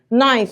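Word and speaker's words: knife: اجي بقى نروح معلماك ان اي كي ان في الانجليش، اي كي ان في الانجليش الكي لا تنطق صح؟ اثبت لك، انت حافظ كلمه سكينه، سكينه يعني ايه؟ نايف صح؟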